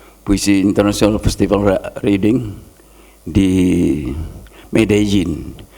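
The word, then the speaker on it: Medellín: International festival reading di medjin tulisan medelin bacanya medjin Colombia Amerika Latin saya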